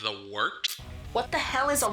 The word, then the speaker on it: Wort: The wort? Yeah, okay, I'll do that again. This is The Wort on Govs Radio. It is the Wort. Not wart, not fort, not short.